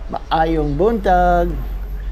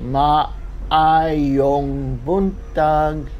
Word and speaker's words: Maayong buntag: Maayong buntag. So it's spelled with 2 A's, and you have to pronounce each A separately. Maayong buntag. Maayong buntag.